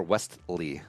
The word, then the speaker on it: Westley: Or is it Wesley or Westley? Wesley. Westley? You hardly pronounce the T.